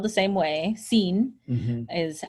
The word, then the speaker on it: sin: in Spanish the word spelled the same way seen mm-hmm is how it's pronounced but si n it means without and